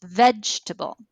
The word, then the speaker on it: vegetable: So if I say vegetable and they have three pennies, they would move the penny up for the first syllable because it's vegetable.